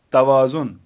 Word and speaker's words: توازن: حرف پر زبر ہو، جیسے توازن، تو تے کے اوپر پہلے ہی زبر ہے، توازن، توانا، توا،